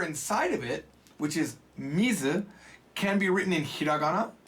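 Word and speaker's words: 水: Mizu. Almost like zoo.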